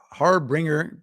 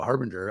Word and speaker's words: harbinger: flying back into town that's the harboring har harbringer no why can I not pronounce it Isa I'm about to have a stroke right yeah there you go harbinger of of good weather